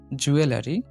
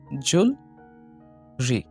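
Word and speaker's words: jewelry: ৯ নম্বর এটা আমরা উচ্চারণ করি জুয়েলারি, তবে এটার সঠিক উচ্চারণ হচ্ছে জুলরি, জুলরি, জুলরি, জুলরি।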